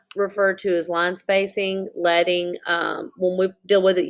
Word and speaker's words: leading: Leading, so like I said, is pronounced leading.